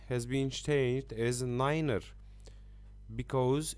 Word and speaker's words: niner: and 3 3 is pronounced as a tree to limit confusion with two and the pronunciation of a nine has been shaped as a Niner because it's very suitable to be mixed with